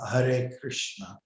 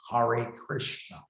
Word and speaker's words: Hare Krishna: like an anglophone who won't even be able to say hare krishna properly it'll be something hari krishna and then he criticizes